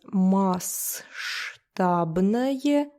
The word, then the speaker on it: масштабное: It is spelled as масштабное, but you just don't pronounce that S there. Масштабный.